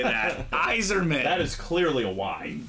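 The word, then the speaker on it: Yzerman: you didn't say that Eiserman that is clearly a why that is Eiserman wiser no it's Eiserman it could be silent zerman Steve zerman no it's Eiserman that doesn't make sense Bob will come at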